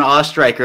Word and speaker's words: Ostriker: you got it right it's ostriker it's a tough one people sometimes just give it up and say ostrich so you know i